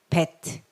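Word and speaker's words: בית: 그 다음에 점이 있으면 bet. 그래서 입술 소리, bet, 비 소리가 난다. 이렇게 기억하시면 됩니다.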